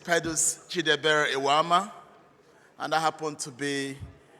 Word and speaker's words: Pedus Eweama: Bobby did not pronounce my name well. CONAPA will find him for that. My name is Pedus Eweama, and I happen to